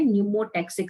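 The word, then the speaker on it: pneumotaxic: तो पॉन्स में जो सेंटर है उसको नाम दिया जाता है न्यूमोटैक्सिक सेंटर। पी साइलेंट है इसमें। क्या बोलते हैं? न्यूमोटैक्सिक सेंटर, जो कि रेस्पिरेटरी रिदम सेंटर के साथ मिलके काम करता है, ठीक है।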